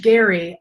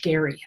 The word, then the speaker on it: Gerry: It's spelled the same but pronounced differently because English, right? So under Elbridge Gerry, they divided the state of Massachusetts so that their candidates would win.